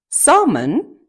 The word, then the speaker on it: salmon: За өнөөдрийнхээ хичээлээр бүгдээрээ L, silent L буюу дуудагддаггүй L үсэгтэй үгнүүдийг уншиж сурах гэж байна.